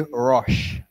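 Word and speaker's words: Roche: interesting name to pronounce let's say Rush and and you think that it is spelled with an Ru isn't it but this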